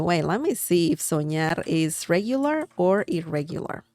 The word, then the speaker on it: soñar: By the way, let me see if soñar is regular or irregular. Soñar, remember the ñ sound of this, the N that has a line on top? Soñar, ña, ñe, ñi, ño, ñu.